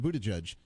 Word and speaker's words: Buttigieg: And Pete Buttigieg, how do you pronounce it? Buttigieg, he is going to be, I believe on Wednesday night, he'll be on that debate.